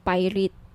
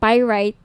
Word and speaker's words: pyrite: ng bracelet ito yung pirate pyrite sorry pyrite yung iba pronunciation pirate pyrite Okay 1,980 each